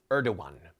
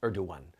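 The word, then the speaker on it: Erdoğan: This man, Tayyip Erdogan, some people pronounce it Erdogan, but I believe that the appropriate spelling is Erdogan.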